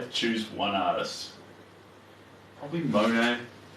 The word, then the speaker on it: Monet: choose one artist probably Monet oh nay I like the silent T I like the name